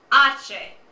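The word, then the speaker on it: hache: H, Ache, which is kind of weird. Look at it on your sheet or in the middle there. You see how the pronunciation is H-A-C-H-E? It's actually pronounced ache.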